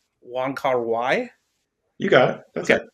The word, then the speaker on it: Wong Kar-wai: I can always pronounce this wrong, Ryan. It's Wong Kar-wai.